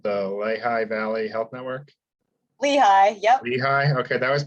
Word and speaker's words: Lehigh: yes here and then uh sorry if i mispronounced this but the lehigh valley health network lehigh yep lehigh okay that was my gut but